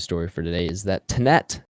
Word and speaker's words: Tenet: for today is that tinnette or tennant whichever one uh all right confirmed in the film yeah oh it's or no no they they actually yeah they pronounce it like tennant yeah they do yeah